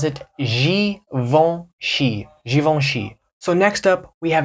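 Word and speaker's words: Givenchy: don't recognize the name based on the French pronunciation because in English in America we say gavinci and I know when I saw this before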